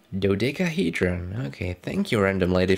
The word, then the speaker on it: dodecahedron: pyramid which and this thing i can't really pronounce do something hold on dodecahedron dodecahedron okay thank you random lady from the dictionary